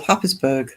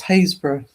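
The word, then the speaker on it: Happisburgh: And that is pronounced Hazes. How the hell do you get Hazes out of that? That's what That's what it's called. Hazes. Silent everything.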